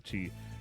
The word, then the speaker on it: ki: Ki, or spirit, is the Japanese and Chinese word best known to English speakers through the martial arts teachings that controlling your ki, pronounced the chi, can improve your skill and focus.